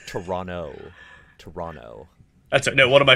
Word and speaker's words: Toronto: in toronto which is they say toronto and then people say toronto like i don't see that you can't pronounce yeah you can't pronounce the only distinction i've noticed okay that's how you know that you're like a sports broadcaster or something like toronto toronto there's a second t but anyways i remember